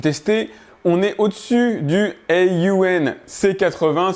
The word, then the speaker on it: Aun: on est au-dessus du Aun C80. C'est comme ça qu'on se prononce qu'on le prononce. Ça s'écrit Aun, le nom de la marque, qui est un projecteur